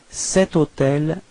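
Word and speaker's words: cet: as well okay so you pronounce it like set so now to repeat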